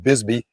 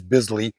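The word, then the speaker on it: Bisley: we've done the bizly which I keep pronouncing Bisby because that's how I've always heard it but it is bizly stance and the last video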